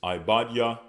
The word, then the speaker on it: Obadiah: Next we have Obadiah, which is Ibadiah.